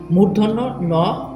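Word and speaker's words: মূর্ধন্য ণ: অথবা বলে কি পেট করা স আসলে মূল উচ্চারণ হচ্ছে কি মূর্ধন্য ন মূর্ধন্য স দন্তন্য বলে দন্তস যেটা সচরাচর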